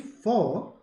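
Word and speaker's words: faux: Sonu strawberry Overlord abami for basically means fake So when you say for leather F leather vgan leather art leather artificial leather and not the real deal the x is silent so the correct answer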